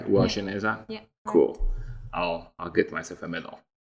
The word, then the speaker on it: Uwajeneza: Uwajeneza?